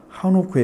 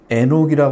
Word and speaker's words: 에녹: 지금 안노 한옥 한옥이라고 나와 있죠 한옥 근데 하노크 여기는 에녹이 읽어야 맞아요 그럼 우리가 또 에녹 하면 다